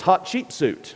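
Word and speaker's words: Hatshepsut: firmly believe it was hot cheap suit now the way you pronounce her name is hot cheap suit a hot too cheap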